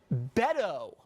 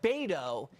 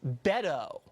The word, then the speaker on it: Beto: wrong from the jump it's Beto O'Rourke not bado it's Beto did you even know that I did I was on committees with Beto and he Beto decide whether or not